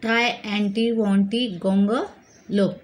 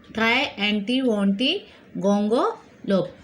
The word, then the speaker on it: Triantiwontigongolope: Today we will start with a new lesson, Unit 2, lesson number 9, the try, anti, wanty, gonga, lope. Okay, this word is very difficult to be pronounced, but keep on trying to say.